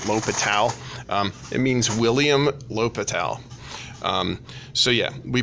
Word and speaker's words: L'Hôpital: not spelled like that French is funny and has lots of additional letters even though you don't pronounce them so one way that we pronounce it is el hospital if you ever call